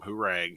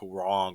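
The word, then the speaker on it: Hwoarang: pronounce I called him hurang even though it's like H wrong or something like that the kicks guy I called him herang because my country ass was like who rang the doorbell well he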